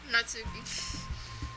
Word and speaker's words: Natsuki: Natsuki.